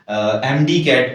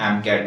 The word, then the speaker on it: MCAT: अगर कोई स्टूडेंट जो है वो इंटरनेशनली पढ़ेगा तो वो एमडी कैट उसकी प्रोनाउंसिएशन नहीं होगी, उसकी प्रोनाउंसिएशन एम कैट होगी।